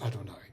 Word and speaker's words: Adonai: I am God using the for letter name of God the Y the hey and the V and the he which we usually pronounce as Adonai and then he goes